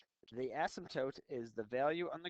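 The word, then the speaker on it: asymptote: but never reaches is represented by a horizontal ASM toote that's how you pronounce it spelled weird but it's pronounced ASM toote the ASM toote is the value on the graph it's the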